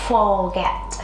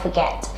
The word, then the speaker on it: forget: Rất là nhiều bạn đọc từ này là forget. No, it's not correct. For nhé, và get, nhấn âm tiết số 2, forget.